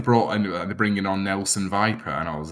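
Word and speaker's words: Nelson Weiper: What I will also say, it's spelled differently, but pronounced the same. That Germany's striker Nelson Viper is a truly superb name, isn't it?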